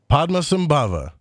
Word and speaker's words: Padmasambhava: Padmasambhava, right?